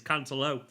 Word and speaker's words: Cancelo: Now, Cancelo, loads of people are telling me I'm pronouncing that wrong, by the way. I asked on Twitter and a couple of Portuguese followers said it's Cancelo. So there you go. Could be Cancelo. Could be.